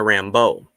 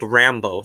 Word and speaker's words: Rambeau: I like what I saw from emerging hero Monica Rambeau. Feels kind of odd hearing her get called Rambo, though. I always thought it was the French pronunciation, Rambeau. Emphasis on the beau, like Remy LeBeau.